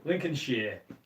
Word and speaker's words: Lincolnshire: Lincolnshire. That's how you say it around here. It's not Shire. You don't say Shire.